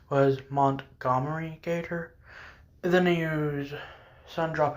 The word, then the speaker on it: Montgomery Gator: I think the correct pronunciation was Montgomery Gator.